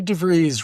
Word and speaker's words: DeVries: DeVries rhymes with the breeze.